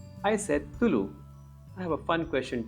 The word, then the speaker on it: Tulu: And yes, I told you also pronounce it Tulu, so the la is how it's written in the Kannada script.